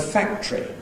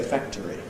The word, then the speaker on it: factory: I learned the word factory in its compressed form as a child. There may be other people who say factory.